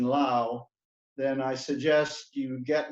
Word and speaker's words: Low: Consequently, they pronounced their surname, as I have done, to rhyme with cow and not snow.